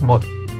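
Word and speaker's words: một: Ceci est le chiffre 1 écrit en homme, ça se prononce mot.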